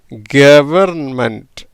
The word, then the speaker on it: government: கவர்மெண்ட், கவர்மெண்ட், கவர்மெண்ட்டுன்னு வருது. சரியா? இப்படி தான் உச்சரிக்கணும்.